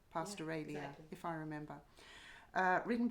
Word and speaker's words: Pastoralia: of short stories pastoralia Pastor Ronnie is that how you say it in my head I say pastoralia but okay I'm gonna say pastoralia if I like Australia pastoralia if I remember uh